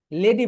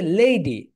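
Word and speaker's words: lady: এটাকে লেডি বলি, কিন্তু রাইট প্রোনাউন্সিয়েশন হবে লেডি।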